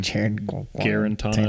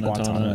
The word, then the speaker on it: Guarantano: I can't say his name. Guarantano. I say Guantanamo.